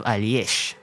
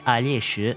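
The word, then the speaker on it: Alesh: Next off, we have Alyesh. Initially, I wasn't sure where this name came from, but upon further research, it appears to be from Russian. This seems to be confirmed by looking at the Chinese translation of his name, which is read as Alyesh.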